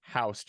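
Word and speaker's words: Houston: just so curious and he's like this is pronounced housed and I'm like no I'm out no no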